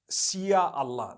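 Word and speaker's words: Insya Allah: language they write in Sia Allah the s-y-a they pronounce it they pronounce the s y the way we pronounce s h so they can write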